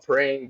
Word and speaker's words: Preying: So the song is called Praying, but it's spelled Preying.